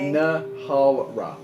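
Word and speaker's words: Nhalra: Nalra. Gotcha. Yeah, dude. It's really hard to pronounce.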